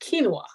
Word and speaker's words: quinoa: it is um it is considered a superfood quinoa it's spelled q-u-i-o-n-a and it's pronounced quinoa yes so that's the one i'm talking about